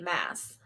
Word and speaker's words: Maas: So I don't have to sit here going Sarah J. Maas, Moss, Mass, Mass, Moss. I still don't know. Okay, so in the audiobook, they say Mass.